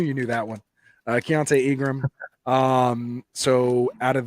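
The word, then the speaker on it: Keaontay: as you've mentioned uh hiltone is that how you say it fiance thank you chiante Ingram so you're the dynasty guy I know you I knew you knew that one uh chiante Ingram um so out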